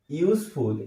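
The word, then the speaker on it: useful: তো ইউজফুল যখন বলছি আমরা, তখন ইউটা আবারও ইউ এর মতো উচ্চারণ হচ্ছে, তাই ইউ ভাওয়েল হওয়া সত্ত্বেও আমরা এখানে কিন্তু এ বসাবো।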